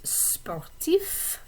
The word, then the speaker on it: sportif: and we also have for athletic the adjectives sportif for masculine form sportive so notice the difference in the pronunciation of the consonants and those words spartif